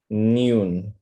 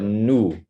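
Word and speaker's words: نون: with the letter noon you kind of say it like noon okay noon or new I want you to just keep it flatter and or make it like not know but new new there you go exactly it's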